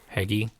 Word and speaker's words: Heagy: One guy, Ryland, I can't pronounce his last name, Heagy. Heggie. So Ryland Heggie, according to Mr. Bittner over here.